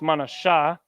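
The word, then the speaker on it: מנשה: this is ma na I believe it's Mana Shah let me see yeah come on a shot with the H at the end don't forget that manessa Mana Shah and again going by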